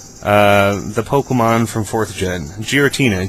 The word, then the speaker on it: Giratina: Pokemon from fourth gen Giratina Giratina I believe it's a hard G I'm at correct me